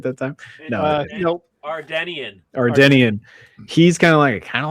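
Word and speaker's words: Ardennian: The Andorian? Did I say it right that time? No, Nope. Ardenian.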